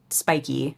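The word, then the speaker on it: Spikee: to release a new open source tool called spiky am I pronouncing that correctly that's correct and I think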